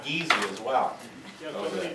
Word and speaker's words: Gysi: No, actually, well, my dad pronounced it Gysi, and my mom pronounced it Gysi.